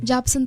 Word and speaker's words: Jobson: Parang ano, Hopson din po pag-pronounce ng mga tao eh. Pero Jobson po talaga siya.